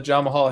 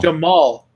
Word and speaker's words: Jamahal: I'm never sure if I'm pronouncing that right, and I heard a couple of people on the UFC broadcast go with Jamahal, so Jamahal Hill. Jamal. I'll make sure I say it correctly from this point forward.